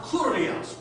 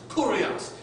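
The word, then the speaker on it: κύριος: Whenever you see the term something, and it's L-O-R-D, it's pronounced kurios, kurios.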